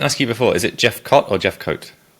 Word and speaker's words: Jefcoat: and I didn't ask you before is it Jeff cot or Jeff coat Jeff coat awesome I did get it right let's see the englishon pronunciation nailed it yeah cool awesome so I